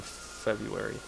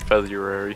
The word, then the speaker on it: February: say the first time sounded like you said feary Fe yeah feather oh